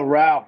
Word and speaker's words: Rauch: last name jason oh ralph rhymes with cow imagine that that's what